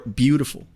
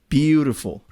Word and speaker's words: beautiful: is jurus jurus MHM or beautiful beautiful same pattern first syllable is emphasized other two beautiful other languages don't tend